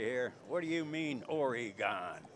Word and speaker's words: Oregon: It's not Oregon, it's Oregon. Okay? Boy, they toasted me about that the last time I did commentary here. What do you mean, Oregon?